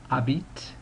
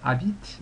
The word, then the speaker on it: habites: of it like that, habite. The H is never pronounced in French, and usually consonants at the end of a word are not pronounced, so the S is completely silent as well.